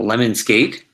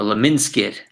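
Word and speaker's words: lemniscate: I always called it a lemon skate, but Mr. Stir calls it a Leminskit. He's probably right.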